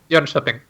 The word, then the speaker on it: Jönköping: Is it Jönköping? Jönköping. Jönköping? What? Say it again. Jönköping. Jönköping. Yeah. Okay. So the K is like a sh sound.